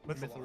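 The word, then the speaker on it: Mythallar: It's called Mythaler. Mythaler. MYTH. I'll just paste it in the general chat. And I think there's a pronunciation guide, so I'm gonna go look for that. Mythalar? Mythalar.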